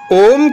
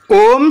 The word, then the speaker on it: ওম: তিনটি অক্ষর অয়ে গঠিত ওম শব্দের শুদ্ধ উচ্চারণের জন্য আমাদের নাভি এবং খোলা গলা ও মুখ থেকে আ ধ্বনি উৎপন্ন করে এটি উ ধ্বনির সাথে মিলাতে হবে যা মুখের মাঝখান থেকে উচ্চারিত হয় এবং শেষ ক্রমটিতে মুখ বন্ধ করে ম উচ্চারিত হবে ওম এর উচ্চারণ অম